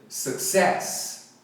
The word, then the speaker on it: success: A galera fala success, a primeira sílaba enfatizada, mas não é, é a segunda. Success, alright? Fala comigo, success. Então aqui o primeiro C tem som de K, o segundo de S.